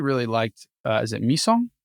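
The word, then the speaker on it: Mi-do: Um, I actually really liked uh is it Misong? How do you say her name? Mito. The daughter. Mito.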